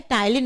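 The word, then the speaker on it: ptyalin: ये एंजाइम क्या है टाइलिन एंजाइम है जिसको आप लोग शायद स्लेवरी अमाइज के नाम से जानते होंगे और इस एंजाइम को हम टाइलन भी बोलते हैं पी is silent over here and this enzyme acts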